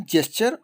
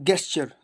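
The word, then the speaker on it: gesture: इसका pronunciation जेस्चर और गेस्चर दोनों होता है.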